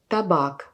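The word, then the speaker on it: табак: ou dans le mot tabac. Vous voyez la premier a c'est très vite. Par contre la deuxième qui est accentuée plus long que la première a tabac. Tabac.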